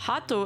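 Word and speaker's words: ハート: To put this in context, Hato is the Japanese pronunciation of the English word heart.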